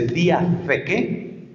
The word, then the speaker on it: diatheke: Se dice diatheke, diatheke, que se escribe con th y con k, diatheke, es la palabra que se utiliza para alianza en griego.